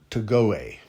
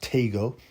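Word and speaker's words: Tagoe: I thought it'd be Emmanuel Togoe. I didn't think there was silent E's in a lot of African dialects, but, you know, what do I know, man? I researched this, and apparently it's pronounced Tego.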